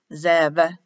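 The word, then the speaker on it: זאב: pronounced with a v written as a b but pronounced as a v sub zev these two go back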